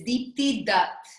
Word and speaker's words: Deepti Datt: Today I have a wonderful guest, Deepti Datt. Am I pronouncing it correctly? It's as good. It's Deepti Datt.